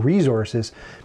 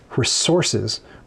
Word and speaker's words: resources: The American way to say it is resources with a hard S. Resources, not resources.